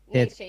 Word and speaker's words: Nietzsche: Yes Nietzsche he's a Nietzsche yeah.